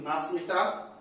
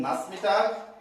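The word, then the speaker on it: Nachmittag: एज I have already told to यू, सीएच का उच्चारण जो होता है बेसिकली साउथर्न जर्मनी में शौका होता है और नॉर्दर्न जर्मनी में खौगा होता है। तो कुछ लोग इसे नाचमिटाग से प्रोनाउंसिएट करते हैं, कुछ लोग इसे नाचमिटाग बोलते हैं, नाचमिटाग।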